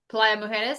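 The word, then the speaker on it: Playa Mujeres: Playa Muer.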